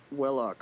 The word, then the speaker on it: Velox: My character's name is Velox, which is, or technically it would be pronounced Velox since it's Latin.